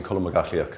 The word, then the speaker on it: Colm Mac Athlaoich: As long as people have asked me what my name was, and it's actually Colm Mac Athlaoich, so that's kind of phonetically how you pronounce it.